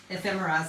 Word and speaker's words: ephemera: Ephemerra. Yeah. Ephemerra collection. Now you get these in this is like a huge word right now and thing in the scrapbooking world ephemera.